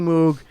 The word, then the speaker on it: Moog: A new slur for guys who really like the Moog synthesizer. It's it's pronounced Moog.